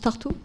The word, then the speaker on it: Tartu: Hein, on prononce Tartu?